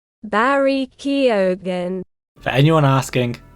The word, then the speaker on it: Keoghan: For example, I now know how to pronounce Barry's last name. Barry Keoghan. For anyone asking, it's Keoghan.